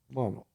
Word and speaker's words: Marmo: Marmo. Yep. Am I pronouncing it right?